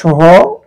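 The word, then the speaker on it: ث: যে জিহ্বার আগা সামনের উপরের দুই দাঁতের আগার সঙ্গে লাগিয়ে উচ্চারণ করতে হয়।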